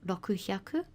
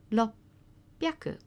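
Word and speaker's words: ろっぴゃく: We should have roku hyaku, and what we've got is lopyaku.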